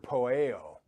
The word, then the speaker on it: poieo: It's the Greek word poieo. Poieo. And it means it's spelled P-O-I-E-O in transliteration.